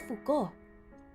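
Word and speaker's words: Foucault: Michelle Fuko is how it's pronounced.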